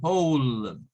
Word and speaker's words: whole: Y tenemos whole, whole. Miren, esta O suena a O. Es un sonido de O, es un sonido largo.